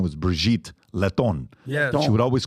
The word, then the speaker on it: Brigitte: It's Brigitte. It's Brigitte. It's Lebanese. It's got attitude. It has a little bit.